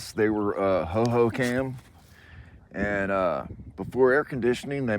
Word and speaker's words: Hohokam: Hohokam. Spelled with a K.